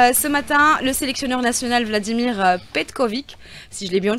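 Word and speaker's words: Vladimir Petković: matin le sélectionneur national Vladimir Petkovic si je l'ai bien prononcé anime aujourd'hui une conférence de presse vous y étiez presque he chou c'est Vladimir Petkovic ça sera la salle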